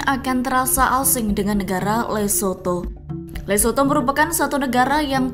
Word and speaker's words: Lesotho: Lesotho diucapkan yakni Lesotho.